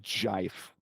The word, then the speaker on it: GIF: It's pronounced jife.